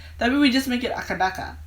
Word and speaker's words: AC/DC: So for example, very famous band AC/DC, a lot of people would say it like that. We pronounce it akadaka.